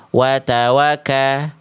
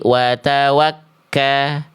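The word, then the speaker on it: وَتَوَكَّلْ: Nah, jadi dibacanya jangan sampai watwaka, tapi watwakka. Watwakka watawak bukan watawaka. Kalau misalnya tidak ada tasydid nih ya.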